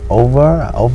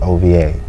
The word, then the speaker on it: Overhood: And I know some people, they say over, I'm like, it's OVA. OVA. And you have to pronounce it in a slang like over. Okay. Overhood, so yeah.